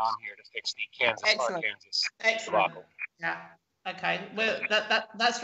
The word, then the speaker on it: Kansas: So the state, K-A-N-S-A-S, like the band, is pronounced how? Kansas.